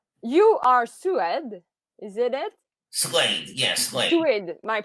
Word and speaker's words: Suede: Suede, yes, Suede. Suede, my You pronunciation.